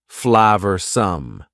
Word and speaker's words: flavorsome: and full of flavor notice the pronunciation two schah sounds there Flav some the sauce proved incredibly